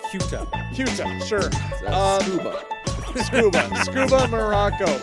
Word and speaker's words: Ceuta: I'm not sure how to pronounce that. I believe it's pronounced Ceuta.